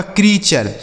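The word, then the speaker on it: creature: टी यू आर ई तो सी आर इ ए से हो गया दोस्तों कृ क्या हो गया कृ और टी यू आर ई का उच्चारण हो गया चर यह लिखा गया आपका कृचर।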